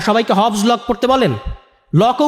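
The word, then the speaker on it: Locke: লকও উচ্চারণ করতে পারেন না উনি। লক বলেন লক বলতে কেউ নাই পৃথিবীতে। লক আছেন জন লক।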